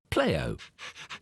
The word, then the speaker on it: Pleo: paying attention we have to say his name playo o that's your name yes we will then